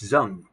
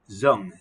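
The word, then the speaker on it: Đung: And this was a student of mine in Vietnam, and her name was Miss Zung, pronounced Zung, Z-U-N-G, but spelt with a D with a slash mark through it.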